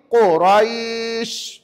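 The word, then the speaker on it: قريش: Lepas kira empat harakat tadi baru bunyi sin. Dan sinin itu mesti dibunyikan dengan cara begini.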